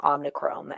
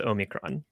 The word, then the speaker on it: omicron: think that's good omikrom i've been calling it omnichrome and i know that's wrong i'm sorry what do you pronounce it omnichrome oh that's certainly not right okay i mean the greek letter is omicron and that's what it's